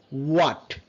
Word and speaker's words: what: আর এখানে আরেকটা বিষয় হচ্ছে এইচ এর সাউন্ডটা আমরা হোয়াট বলি, what, but in a British sound is a what. Okay, what. So H is silent. What, when, why, which, whether, right?